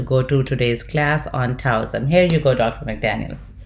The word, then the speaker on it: Taoism: as is if it's as if it's a d so taoism but um i sure